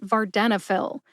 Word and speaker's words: Vardenafil: a sound uh and fill as in pharmacist fill prescriptions for venail put it all together and you get venail emphasize Den see if you can hear that emphasis when I say it slowly venail venail